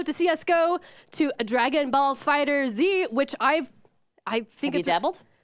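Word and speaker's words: FighterZ: Dragon Ball Fighter Z, and I'm with you, community. We're pronouncing that Z. It's capitalized.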